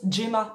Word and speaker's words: Gemma: Bon eux ils prononcent Gema puisque c'est un roman anglais. Donc GMA en anglais c'est Gemma.